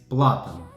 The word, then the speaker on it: Platan: Все же по-чешски верно говорить платан, так как в чешском языке ударение падает всегда на первый слог.